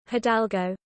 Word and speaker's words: Hidalgo: Uh, pronounce Hidalgo. Hidalgo. Oh, Hadalgo.